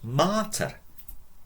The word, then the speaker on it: mater: Mother, mater. With a long A. Mater, mater severa. Father strict. Pater severos est. Mater severa est.